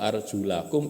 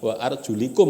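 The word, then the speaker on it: أرجلكم: marafiq wamsahu biruusikum wa arjulakum ilal ka'bain, kan gitu kan. Ini kan sebagian memahaminya itu gini, wamsahu biruusikum, usaplah kepala kalian, wa arjulikum bacanya gitu, bukan wa arjulakum.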